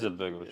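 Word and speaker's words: Alija Izetbegović: Alia Izetbegovic, how you pronounce it? Izetbegovic.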